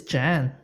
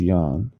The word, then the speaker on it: Jan: talking the same name well officially it's Jan that's no well everyone else it's always Yan oh yeah but CU it's like je Jean C vanam Yan there's plenty of it's It's a why pronunciation normally for that name for men so yeah the Americans called it Jan Michael Vincent um American